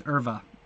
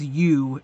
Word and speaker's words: Euwe: I think these two players are among the most notorious about mispronunciation of their names. It's definitely not Max Euwe or Max Euwe. It's the correct way to pronounce it is Max Erva.